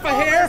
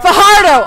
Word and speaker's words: Fajardo: Oh, not Fajardo. Fajardo. Fajardo.